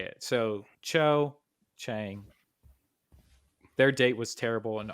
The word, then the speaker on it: Cho Chang: the thing I can actually say it so Cho Chang their date was terrible and awful let's just